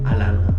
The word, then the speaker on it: Atlanta: want to blend in, you cannot pronounce the T's. It's a no-no. Alana.